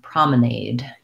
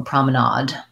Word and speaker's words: promenade: would be an aid a promenade is can be promenade or promenade so let's look at the